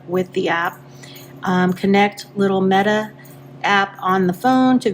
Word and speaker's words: LIMETA: This is LIMETA or LIMETA app. So this is LIMETA. That's how you pronounce this.